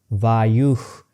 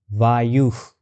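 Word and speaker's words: वायुः: Now, I want you to concentrate over the word vayu and listen how the echoes is already happening spontaneously with voiceless glotal fricative. vayukh vayukh So, I say you and sound is automatically followed.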